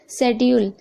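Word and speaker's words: schedule: Okay, शेड्यूल, यहाँ पर भी आप देख रहे हैं एस के बाद सी है तो सी साइलेंट है।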